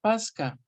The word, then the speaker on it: pascha: Viene del latín eclesiástico pascha, se pronuncia Pasca, el que a su